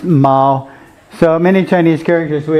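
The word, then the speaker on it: 猫: minute this is pronounced meow but together they're pronounced Ma so many Chinese characters we have a semantic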